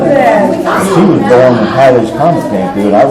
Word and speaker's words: Halley: She was born when Halley's Comet came through, and I researched it. It's Halley, that's how you pronounce it. H-A-L-L-E-Y.